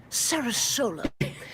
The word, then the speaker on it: SaraSolo: Listen, Florida, I love Florida, and I love SaraSolo, although I thought it was pronounced differently, but apparently it's pronounced SaraSolo.